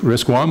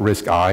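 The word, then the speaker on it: RISC-I: the first chips were risk one and risk two and they were called risk one and risk two not risk I and risk I I so it's not risk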